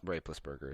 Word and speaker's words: Roethlisberger: the ben roethlisbergers of the world all gone rapeless burger is how you pronounce that yeah well now tom brady was